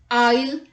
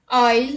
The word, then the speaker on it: isle: S is not pronounced before L in the following words. Let's look at the examples. Island, isle, isle and islet.